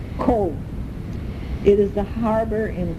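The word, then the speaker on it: Cobh: we went to see OVH that's pronounced cold it is the harbour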